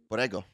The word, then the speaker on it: Borrego: Borrego. Borrego? Borrego. Oh, I did Double the R? Italian Brr. G.